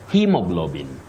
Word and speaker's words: hemoglobin: So you say he with a long high front sound, E. Hemoglobin.